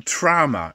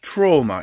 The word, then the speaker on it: trama: First of all, the term trama, it's not trauma, it's not some kind of pronunciation mistake. Trama with T-R-A-M-A.